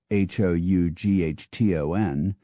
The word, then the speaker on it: Houghton: England has three villages called Houghton, and each has a different pronunciation, respectively Houghton, Houghton, and Houghton.